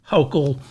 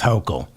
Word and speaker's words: Hochul: I think it's pronounced Hochul. I'm going to go with Hochul.